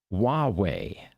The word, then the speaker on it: Huawei: He says, Huawei is pronounced Huawei. Well, thank you. Yeah, that's right. H-U-A, Hua. Okay. Yeah, Huawei.